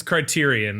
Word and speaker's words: Criterion: It's It's Criterion. I looked it up.